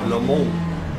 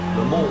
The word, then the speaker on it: Le Mans: So LMU, Le Mans Ultimate, or as they say in France, Le Mans. Le Mans Ultimate. Le Mans is how you pronounce it in French.